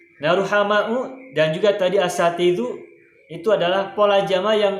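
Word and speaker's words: أَسَاتِذَةُ: Sehingga sin ini harus dibaca fathah. Nah, karena sinnya dibaca fathah, berarti bacanya adalah sa.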